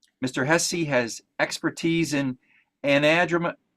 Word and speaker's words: anadromous: Hesse has expertise in anadromous. You're going to have to correct me on that one, Jay. I can't pronounce that. Anadromous. Anadromous, thank you.